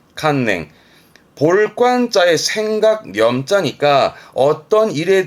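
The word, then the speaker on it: 観念: 그래서 발음은 칸냉, 칸냉.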